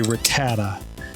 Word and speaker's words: Rattata: ratata up ratata Rattata how do you say it in the anime they say Rattata if you listen to my dry bread he says ratata Okay so we're